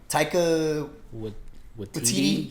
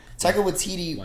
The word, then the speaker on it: Taika Waititi: We've kind of built up after we've gotten what's his face, how do you pronounce the director's name again? Just say Taika. Taika Waititi? Yeah, I think you Taika Waititi.